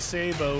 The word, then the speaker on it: sabot: Quick scope and sabo round. That's spelled sabot.